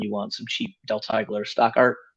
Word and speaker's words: Teigler: Mhm, Um, and it's Teigeler, pronounced Teigler.